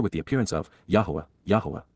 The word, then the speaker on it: Yahowah: the appearance of, Yahowah, Yahowah, the proper pronunciation of the name of Eloah, God as directed in his Torah, teaching regarding his Haya.